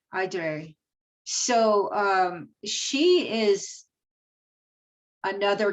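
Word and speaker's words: Éire: for aaron in ireland it's e-r-e-i-r-e and it's pronounced edre aydre aydre so um she is another goddess that if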